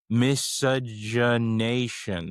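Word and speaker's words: miscegenation: I don't think I've ever said it out loud though, so I also don't know how to pronounce it. Okay. It is misogynation.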